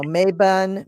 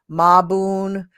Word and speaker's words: Mabon: but I am and we pronounce it any old way you want so it's you know maben mabon maboon mabon mobin or mavon now most people most